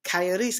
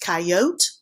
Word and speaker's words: coyote: there really are factoy coyotes can be pronounced coyote or coyote clumsy coyote said I'll